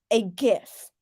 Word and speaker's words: GIF: It is pronounced a GIF. Yes, that is the official thing. GIF.